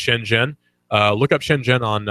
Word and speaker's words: Shenzhen: go on youtube and look up shen jen that's see or sorry sh en ze n it's pronounced shen jen look up shen jen